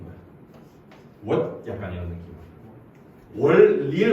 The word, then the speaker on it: 월: 이 친구가 발음이 음이 월이에요. 월. 오케이? 근데 중국 원음 발음에서는 이게 약간 이 디귿 발음이 있는 거야.